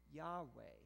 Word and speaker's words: Yahweh: that's related to i am usually it is pronounced yahweh but the ancient israelites it was so sacred